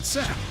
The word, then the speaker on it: Sapp: The chef is David Sapp. Even his name rhymes with app.